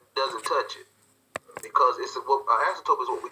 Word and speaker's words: asymptote: So looking at the graph, when we talk about an asymptote, that's how you pronounce the word.